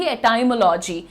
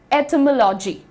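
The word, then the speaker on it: etymology: अभी बहुत रिसेंटली तक बहुत कंफर्टेबली कहती थी एटाइमोलॉजी। लेकिन दोस्तों आप यहां पर ध्यान से देखिए। इसका प्रोनाउंसिएशन तो मैंने लिखा ही नहीं। ओ ये रहा। ठीक है? ये रहा प्रोनंसिएशन। इट इज़ एटमोलॉजी।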